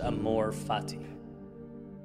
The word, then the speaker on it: amor fati: There's a Latin phrase pronounced amor fati.